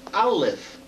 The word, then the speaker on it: Aleph: The letter Aleph, it's written as one letter, but it's not pronounced A, it's pronounced Aleph. Aleph, Lamed, Pei, as though it were written out as a word.